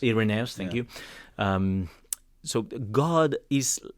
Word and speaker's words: Irenaeus: Irenaeus. Irenaeus, thank you.